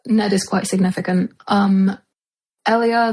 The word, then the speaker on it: Elia: Um Ellia, they pronounce her as Elia in this.